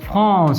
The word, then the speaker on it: France: France. Aquí es France. ¿Ok? FR. France. Desde la garganta. France. France. ¿Ok? Aquí esto produce un sonido S. Como el español.